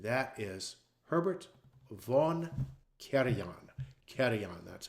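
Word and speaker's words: Karajan: Kerion. That's how it's pronounced. Kerion.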